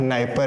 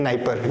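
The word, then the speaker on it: Dnieper: Kyiv से होते हुए एक नदी बहती है जिसका नाम नाइपर है, ठीक है, डी से शुरू होता है, नाइपर, डी साइलेंट है।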